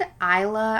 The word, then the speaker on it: Isa: So, I pronounce it Isa, I think because I have a friend whose daughter's name is Isa and it's spelled like this. But when I was listening to the audio book, they pronounce it EA. Yeah, EA, which is just hard for me to remember. So, I guess I'll call her EA.